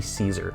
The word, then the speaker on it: Cesar: do you say this is it Cesar Ruiz or is it no it's c-e-s-a-r it's definitely Caesar I've just heard people